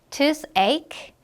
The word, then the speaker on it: toothache: 발음할 때는 이 CH 부분이 어떻게 발음이 되니 지금? 크로 발음이 나요. 그래서 toothache, headache, 크로 발음해 주시면 되겠습니다.